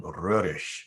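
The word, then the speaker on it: Roerich: He has a Russian name, a French name, a German name, and different pronunciation through each. But I use Stravinsky's pronunciation. He always called him Röhrisch when he talked about him.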